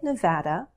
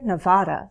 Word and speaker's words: Nevada: Nevada the Silver State I say Nevada I also hear Nevada sometimes so take your pick Austin Texas the Lone